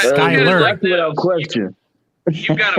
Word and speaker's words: Skylar: But that's not how he pronounces it. He'll never be in the Hall of Fame, bro. It's Skyler.